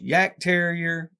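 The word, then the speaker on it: Jagdterrier: the Y Terrier uh it's actually pronounced Yak Terrier everybody calls him yogs or Jags we all call them Jags it's just easier I got tired of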